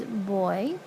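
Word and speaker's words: voy: let's look here so the yo form is boy it sounds like the opposite of girl but Julie spelt with a V so your boy to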